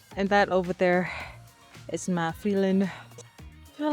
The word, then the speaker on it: Mã Pí Lèng: To pronounce that is Ma Phi-Linh. And that over there is Ma Phi-Linh.